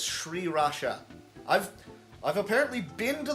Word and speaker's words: sriracha: mix that with some sriracha also fun fact it's not pronounced Sriracha it's SRI Rasha I've I've apparently been